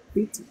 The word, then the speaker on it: feet: feet chân nhỉ? Áo Feet feet. đúng không? Đừng có feet. Nếu mà đọc là fit Alright. là cái từ này mất rồi.